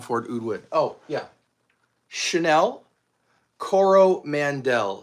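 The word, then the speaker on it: Coromandel: Chanel Cororo Mandel. C O R O M A N D E L. Cororo Mandel. Exactly how it sounds.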